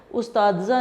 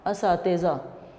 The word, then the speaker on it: اساتذہ: ये उस्तादज़ा नहीं है, تیزہ ہے، استاد کی جمع اساتذہ۔ تو اس کا تلفظ